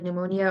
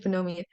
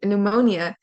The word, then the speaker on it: pneumonia: have like words like pneumonia or pneumatic the p is silent but it's in relation to Arab breath so uh with with I almost said phenomia uh pneumonia uh we have um